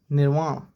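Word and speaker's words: nirvana: एक वर्ड अच्छा करवाता हूँ, निर्वाण या निर्वाणा भी बोल सकते हैं इसको, है ना, अलग अलग प्रोनाउंसिएशन होती है, निर्वाण, है ना।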